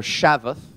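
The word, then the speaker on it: שבת: by the way that Sabbath or shabath as the Hebrews would pronounce it is Cease desist or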